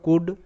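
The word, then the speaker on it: could: এখানে এল সাইলেন্ট এরপর কুড সি ও ইউ এল ডি কুড কুড সুড এস এইচ ও ইউ এল ডি সুড সুড সুড কিন্তু নয় কুলড কিন্তু নয় মানে এল গুলো সাইলেন্ট উড কুড সুড পরের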